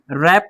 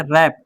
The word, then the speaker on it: wrap: आएगा तो W silent, W के साथ आर जहां भी आएगा डब्ल्यू क्या हो जाएगा, साइलेंट हो जाएगा। ठीक है, डब्ल्यू का उच्चारण नहीं करते। तो राइट, रॉन्ग, WRAP, रैप पढ़ते हैं, इसको क्या